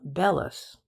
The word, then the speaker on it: bellows: I know a man who calls them bellis, which is, I believe, the professional pronunciation.